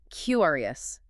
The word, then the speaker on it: curious: Again, punch the front, curious. It sounds open and bright, which matches the meaning perfectly.